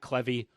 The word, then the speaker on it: Clevey: We're going to incorporate, first and foremost, a comment from our Discord from none other than Matt Clevey, rhymes with Chevy.